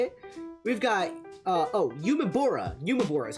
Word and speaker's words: UMEBURA: UMEBURA is how you pronounce it.